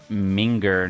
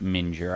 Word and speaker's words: minger: Pronounce minger, not mure.